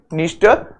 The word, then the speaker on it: Dniester: There is another river Dniester, which is the longest river of this country. Dniester, the D is silent here.